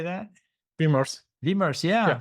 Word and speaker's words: Vimers: Vimers.